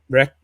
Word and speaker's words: Rech: From what I've seen, we haven't seen much condemnation of him, and stuff like what Jim Reck's done. Rec, whatever RECH, I think it's pronounced Rec.